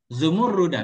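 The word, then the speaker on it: زمردة: dalam surga rumah minumurudah bukan Zamrud bacanya zumurudah biasa saya baca Zamrud minamrah bukan minur dari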